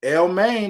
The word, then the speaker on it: Elmaine: Elmaine. Okay. Elmaine, not chicken lo mein, not the main course, not the main event. It's Elmaine.